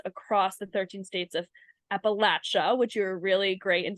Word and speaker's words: Appalachia: And so Trisha, you track opioid settlement developments across the 13 states of Appalachia, which you're really great in telling me that I how to pronounce that, Appalachia.